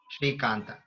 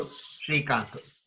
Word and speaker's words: Srikantu: So Nanna Hesaru Srikantu. Okay. So Ende is my, Pere is name, Srikantu. So usually in Sanketi we finish it in U rather than A. So I would say my name is Srikantu.